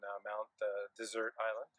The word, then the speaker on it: Mount Desert Island: The bus that takes you over to Bar Harbor on Mount Desert Island, as it's properly pronounced.